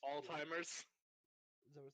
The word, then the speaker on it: Alzheimer's: And it's, Alzheimer's. Is that what it's not called? Alzheimer's. Did you just call it Alzheimer's? What's it called? It's a Like Alzheimer's. I heard ALLTIMERS. That's Well, what he said. I pronounced it that way, but that's not how